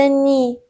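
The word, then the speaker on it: nid: میشه مزون یعنی خونه ان مثل نی نی دیش تلفظ نمیشه نی به معنی آشیانه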